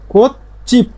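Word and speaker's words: 꽃집: তেমনি ভাবে এর উচ্চারণটা হবে কি কোত চিপ, জিপ না হয়ে কি হবে কোত জিপ।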